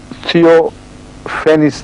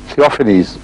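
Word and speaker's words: Theophanes: شخص ایک Byzantine historian تھیوفینس تھا، تھیوفینیز اس کا تلفظ ہوگا، بیزنٹائن ہسٹورین تھیوفینیز، جو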